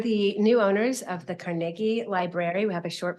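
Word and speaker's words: Carnegie: just real brief history Andrew carnegi was born in Scotland that's why I'm pronouncing his name carnegi um in 1835 uh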